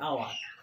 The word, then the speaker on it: hour: My father will come back in an hour.